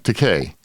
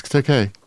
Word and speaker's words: Takei: Takei. No, it's Takei. He used to go on interviews and say it's Takei, like gay.